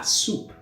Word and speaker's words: soupe: This time, there is an E after the P on the second word. So I'm going to pronounce that P, and it's going to be ma soupe.